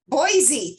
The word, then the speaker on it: Boise: I don't know how to say it actually, Boise State University? Boise.